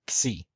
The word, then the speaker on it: Xi: In classical Greek, it was pronounced xi, just like in Koine in modern Greek.